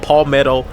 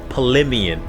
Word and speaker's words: Palemion: I remember I said like palmetto and I think I was thinking pimento cheese but it was paleian.